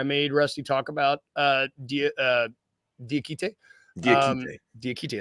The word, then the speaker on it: Diakite: Diakite, I said it right. That's how Keith Parrish says it anyway.